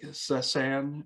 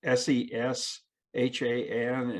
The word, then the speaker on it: Seshan: David Sinclair, George Church, and Catholic Sesan. It's Seshan, and his first name is spelled Karthik.